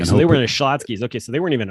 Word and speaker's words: Schlotzsky's: I'm just going to tell you that Schlotzsky's Deli. Oh, okay. That's what that's pronounced.